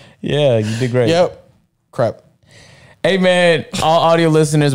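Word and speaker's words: crêpe: A creep. It's not a creep. That's good enough, John. It's a creep to us. It's a crep. Crep. Crept up. What's it called? Crep. Yeah, you did great. Yep. Crep.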